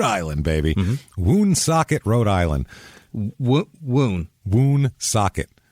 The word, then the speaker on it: Woonsocket: Woonsocket. Like W-O-O? W-O-O-N, socket, like a wrench.